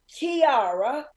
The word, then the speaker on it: Tiara: And her name rhymes with tiara. It's Tiara.